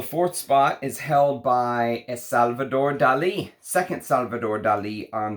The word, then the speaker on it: Salvador: This is Salvador by the house of Salvador Dali is how this is pronounced.